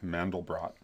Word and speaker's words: Mandelbrot: a guy named benoa mandelbrot by the way he actually does pronounce the T on his name even though it doesn't doesn't follow normal French pronunciation there but benois mandal